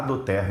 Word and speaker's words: doTERRA: E esse nome, por incrível que pareça, a pronúncia ele até parece no português, né? Mas é latim. Do terra significa presente da terra, mas é uma empresa